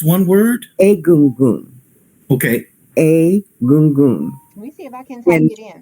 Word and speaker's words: Egun: It's Egun. Help you with that at the moment. I think is it. It looks like gun, but it's pronounced goon.